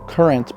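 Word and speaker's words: QRNT: That's pronounced current, but spelled QR N T.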